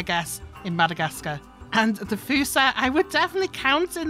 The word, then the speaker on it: Fossa: So at the back here, we've got the Fossa, not the Fossa as I originally thought it would be. Some of these animal names